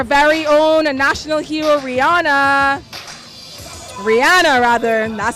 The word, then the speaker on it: Rihanna: Rihanna rather that's how the Beijians pronounce it.